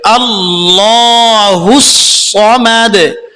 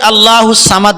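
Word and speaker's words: ٱللَّهُ ٱلصَّمَدُ: টান দিয়ে পড়তে হবে আল্লাহুস সামাদ সামাদ অনেকে আল্লাহুস সামাদ বলেন মানে সদকে সিন বলেন এভাবে পড়লে পড়া হবে না আল্লাহুস সামাদ এরপরে দেখুন লাম ইয়ালিদ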